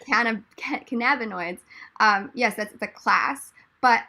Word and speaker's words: cannabinoids: So the emphasis on that last syllable. I don't know if you guys know my Mike Myers jokes or whatever, but but yeah, I was like, cannabinoids.